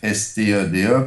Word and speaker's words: Hofstede: C'est un nom hollandais, c'est difficile à prononcer, c'est Hofstede, pour Ouais, c'est ceux qui encore ne plus savent compliqué à pas.